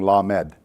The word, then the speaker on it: lamed: the next one is lamad and it's l as in as in lucky and it's pronounced like llama only you're saying lamed the next one is